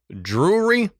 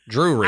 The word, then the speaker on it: Drury: their children, John Jr., Drury, which is an interesting name. Drew, R Y, Drury.